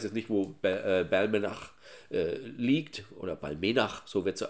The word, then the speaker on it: Balmenach: Und natürlich ist ganz klar, ich weiß jetzt nicht, wo liegt, oder Balmenach, so wird sie ausgesprochen, wo die liegt.